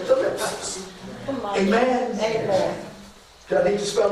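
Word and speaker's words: θλῖψις: You'll say thlipsis. Amen. Amen. Do I need to spell it again?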